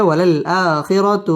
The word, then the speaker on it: وللآخرة: করে উচ্চারণ করতে হবে ওয়ালাল আ মধ্যে বদল একালিফ টেনে পড়তে হবে ওয়ালাল আখিরা র পুর হবে ওয়ালাল আখিরাতু খই জবরের বাম পাশে